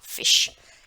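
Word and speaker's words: Fisch: Dare, gold, FIS से हा, फिश, क्योंकि इसमें भी जो है गोल वाली शाह का उच्चारण है श, फिश, राइट।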